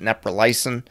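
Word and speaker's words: neprilysin: tril is actually classified as a neilos inhibitor uh some pronounce it neyin uh this enzyme basically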